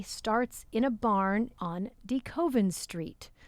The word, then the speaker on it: DeKoven: and we ask them, how do you pronounce the name of your street? And so it was the Chick-fil-A worker who did in fact confirm it is DeKoven.